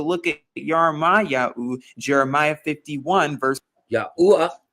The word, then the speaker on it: Yahuwah: Because if we take a look at Jeremiah 51 verse Yahuwah. I like how he said it. Yahuwah. Didn't pronounce the H.